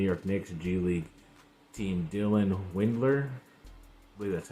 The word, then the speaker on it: Windler: for the New York Knicks g-league team Dylan Windler believe that's how you say it in that